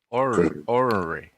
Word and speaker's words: ornery: Ornery. Ornery. O-R-N-R-E-Y. Ornery. Ornery. I don't usually pronounce that first R when I say it.